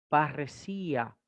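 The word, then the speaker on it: παρρησία: Y aquí viene un ejemplo, una palabra muy conocida, es la palabra parresía. Parresía. Recuerden que doble ro será doble R castellana.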